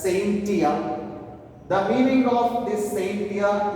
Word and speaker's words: scientia: It is actually pronounced as scientia.